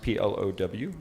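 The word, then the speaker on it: Plovgh: from plough which is spelled PLO vgh but pronounced PLO w if you would plow was a partner in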